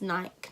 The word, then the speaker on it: Nike: And it's Nike, not Nike. It's Nike. But anyway, I'm just going to quickly finish off this look with my lips.